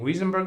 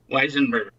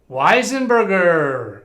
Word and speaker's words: Weisenberger: Correct pronunciation of your last name, Wiesenberger or Weisenberger? Weisenberger. Weisenberger. All right. I've been wrong all this time. I think I've been pronouncing it the other way.